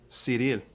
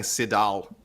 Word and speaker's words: Ciryl: Ciryl. See, he says I've been saying Sidal. No, buddy, you roll your R, man.